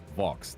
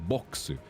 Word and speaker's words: Vox: For example, my name, Vox. There is no V sound, to my knowledge, in katakana, and so it's in katakana. It's written and pronounced boxu, and so for a